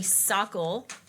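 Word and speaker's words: Sokol: It's apparently Sockel. Sockelblosser. Sockel. Rhymes with glosser.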